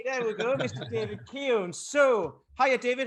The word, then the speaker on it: Keohan: for it we have this week mr david riccio yes hey there we go mr david keown so hiya david how are you doing i'm